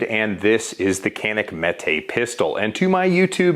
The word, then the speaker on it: Mete: a new gun so kanik recently released the mete series and straight from the horse's mouth i promise you that's how you pronounce it so the mete lineup of pistols